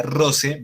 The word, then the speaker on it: rosae: Ella me está hablando en la cuarta frase, cuando hablamos de rosae, que se pronunciaría rose, vita.